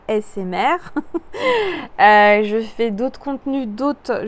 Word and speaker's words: ASMR: de la de la asmr je le prononce bien parce que souvent je dis assez mère alors que c'est assez asmr je fais d'autres contenus